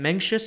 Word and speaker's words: Mencius: name was m-a-n-g-k-e and menxious is just an English way of pronouncing his honorific title spelled m-e-n-g-z-i which literally means Master